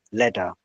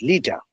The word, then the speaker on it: Leta: So actually, let's start off with when we started, we said, I started by pronouncing your name as Leta, and you said it's Lita.